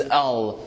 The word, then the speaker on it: I'll: The reduction of I will is L.